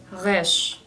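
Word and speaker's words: ריש: Por ejemplo, hay una letra que se llama resh, que no es como una R o R en inglés, sino que es como un sonido de acá, de la garganta, como cuando haces gárgaras, como resh, resh, viene como de acá.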